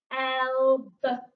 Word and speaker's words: elbows: So in this word, we have got O-W making an O sound like snow. So L, elbows. Elbows.